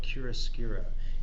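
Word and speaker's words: chiaroscuro: lighter hue of the same color that's called curacura and we spell that c-h-i-a-r-o-s-u-r-o and it's an italian word and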